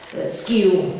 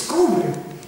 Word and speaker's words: Skåne: me to say no, it's not pronounced skew, it's skoon shoes.